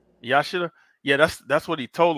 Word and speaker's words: Yashida: Yashita. Yashida.